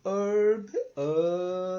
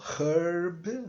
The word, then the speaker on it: herb: herb tá então des eu tô falando herb não tô falando herb herb então This is